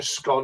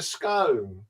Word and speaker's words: scone: like is it a scone or is it a scone scone you're in Scotland it's scone if you're Irish it's a scone well if my mom gets